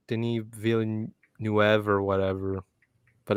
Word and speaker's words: Villeneuve: a pretty good movie it's a denis villeneuve movie uh yeah that's how you say his name who directed the new dune movie which i really enjoyed but uh that's how i say it all the time villanueva however the new wavy